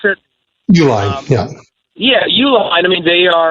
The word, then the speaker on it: Uline: Is that how you pronounce it? Uline, yeah.